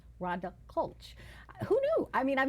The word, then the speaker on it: Klch: never known how to pronounce her last name is spelled k lch but it's rhonda cole CH who knew I mean I've known her for